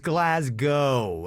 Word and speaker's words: Glasgow: glasgow uh it's just glasgow and the w is silent at the end you don't say that